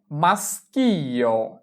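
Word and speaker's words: maschio: এরপরে মাস্কিও মাস্কিও মাস্কিও মানে পুরুষ।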